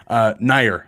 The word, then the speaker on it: Nayar: Nair, excuse me. Nikhil Nayar. Sorry, we said Nayar for so long.